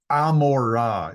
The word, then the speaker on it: Gomorrah: you go toward uh Sodom and Amora is the way that's pronounced in Hebrew Sodom and Gomorrah adma Zim as far